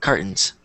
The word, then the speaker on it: cartons: I normally say it cartons so s yeah I kind of leave out what that t mute yeah it's kind of it's kind of you can't really hear it it's kind of Silent exactly um good okay